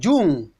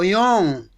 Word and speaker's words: Jung: you know about khao jung the right to pronounce him kao young there is also sigmund